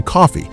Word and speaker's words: Coffey: Answers that his name is John Coffee, spelled like the drink, but not the same.